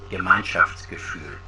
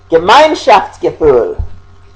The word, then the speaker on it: Gemeinschaftsgefühl: And Adler had a word for this term, so let's click on it so you can hear a pronunciation of it. Gemeinschaftsgefühl. Gemeinschaftsgefühl.